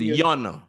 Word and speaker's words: yon: The Y is the yo, like in English, yo. So this becomes yon.